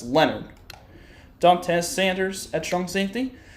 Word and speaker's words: Leonard: The H is silent. So it's not Leon Hart, it's Leonard.